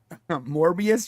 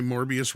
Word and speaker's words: Morbius: there's a reason why morbius rhymes with glorious goodness look regardless we